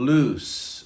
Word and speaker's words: loose: words all right number six is lose and loose so let's practice firstly this the pronunciation because this is clue and cause of